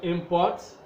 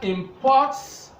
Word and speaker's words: import: these syllables and then if the word is used as a nom this stress will be on the first syllable when we use it as an app and if we use it as a web this stress will be on the second syllable so let's look at